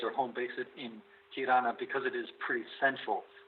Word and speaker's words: Tirana: Tirana. I was not sure how to pronounce it.